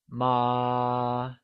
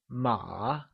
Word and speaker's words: mǎ: The correct answer is the second one, ma. Did you get that? Ma. Good. So remember, horse translates to ma and is said with a falling, rising tone, also known as the third tone.